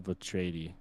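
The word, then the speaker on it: Vetreiði: It's Jarl Vatredi. It's Okay. The EI is A. It's an A sound. Okay, Breezy, give us your Jarl Vatredi.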